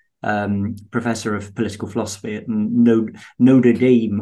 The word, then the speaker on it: Notre Dame: He's a post-liberal, Roman Catholic post-liberal professor of political philosophy at Notre Dame, or however they pronounce it in the US. I said Notre Dame, and he Notre Dame. Yeah, he corrected me.